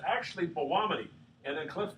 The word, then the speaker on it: Belluomini: kind of a tour they're actually like a w aren't they is that